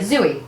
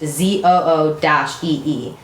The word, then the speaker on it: Zooey: whatever, and then it'll say like pronounced ZOO-EE. Zoo-E.